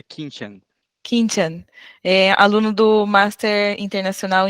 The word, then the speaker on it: Quintian: E o Quintian, é assim que pronuncia seu nome? É Quintian.